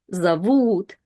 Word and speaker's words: зовут: But in a bigger word, we always have to see if o is stressed or not stressed. And in зовут, u is stressed and o is not.